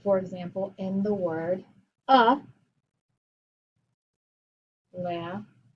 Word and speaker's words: Alaska: Like, for example, in the word Alaska. That's an open syllable. Alaska. Alaska. Two open syllables. But I don't say Alaska. I say Alaska.